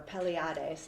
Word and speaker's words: Pleiades: So what they believe is, and that the word that they used to call was Pleiades, or Pleiades is how you pronounce it.